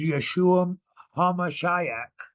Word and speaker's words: Yeshua Hamashiach: Mo most higher than any other name is Yeshua hamashiach is how you say it so I follow